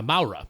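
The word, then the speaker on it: Moura: So written directed by clever fiho and starring Vagner Mo uh Ma. Ma is how he pronounces that last name.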